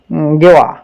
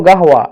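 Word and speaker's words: قهوة: কিছু বাঙালিরা উচ্চারণ করে গেওয়া, গেওয়া বলে। মূলত এই শব্দটা হলো গাহওয়া, এখানে কফ দিয়ে বলে, কফ হা ওয়াও গোলতা। তো অনেক বাঙালির উচ্চারণটা আমি এভাবে শুনছি, গেওয়া, আইজ গাওয়া, আইজ গেওয়া, আনাইজ গেওয়া, এভাবে বলে তারা। মূলত শব্দের উচ্চারণটা হবে আনাইজ গাহওয়া এভাবে। তো আপনারা যত ভালোভাবে শব্দের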